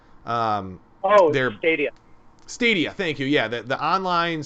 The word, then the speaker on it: Stadia: can kind of like um the google uh sativa or i always say it wrong says satella um oh their stadium stadia thank you yeah the online streaming gaming situation